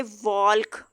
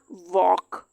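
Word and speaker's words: walk: अब एक देखें पेयर अगर इस तरह का हो ALK वाला, अब हम इसको यूं नहीं पढ़ सकते वॉल्क, एल यहाँ पे भी साइलेंट हो जाएगा, ये हो जाएगा वॉक।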